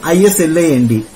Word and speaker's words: island: don't speak for example isla nd do you say island thailand s is silent fine we have been